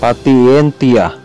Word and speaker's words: patientia: Halimbawa, patientia. Ito ay pacientia. Gratia.